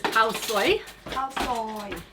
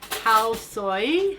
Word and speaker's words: khao soi: curry yesterday it was khao soi hao soy soy soy like a soy sauce soy i say it wrong all the time but